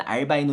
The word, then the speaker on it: albino: 알비노 (albino) 의 영어 발음 은 사실 " 알 - 바이 - 노 " 이지만 , 우리 는 그런 건 신경 쓰지 않고 그냥 " 알비노 " 라고 부릅니다 .